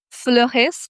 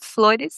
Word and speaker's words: Flores: Je m'appelle vraiment Flores, comme tu as bien prononcé. En français, en portugais, on dirait plutôt Flores, Flores.